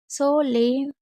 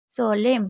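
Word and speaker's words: solemn: इसी तरीके से जैसे को ल म, कोलम, सोलेम, सोलेम, क्योंकि एन साइलेंट है।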